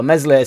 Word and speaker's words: Meslier: Everything's on stats, so Meslier Silent S isn't the best keeper or isn't a good keeper because he's shot stopping or whatever, but his clean sheets don't matter.